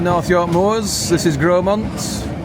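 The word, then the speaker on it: Grosmont: This is Gromont. Spelled Gmont, but pronounced Gromont.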